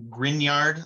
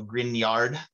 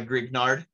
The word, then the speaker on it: Grignard: to pronounce this it's grignard like like lasagna i don't know if grignard is an italian name but you pronounce it like it's an italian name um with that gn